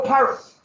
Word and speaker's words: Pyrrhus: Oh, Pyrrhus. So that was the defeat by the Greeks and Epicurus. And they would defeat a Roman army at Pyrrhus, but the Greeks lost so many men that